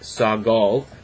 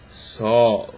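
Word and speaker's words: sağol: that when you have a g like that it basically makes that g silent and extends the length of the vowel preceding it so s-a-g-o-l it's not sagal it's sol just a long a a long a and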